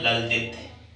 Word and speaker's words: ललद्यद: ये नाम है ललदित। ललदित। अगर आपने इसका उच्चारण ऐसे ही मन किया है तो इसका सीधा सा अर्थ है कि आपको ये पढ़ना आ गया।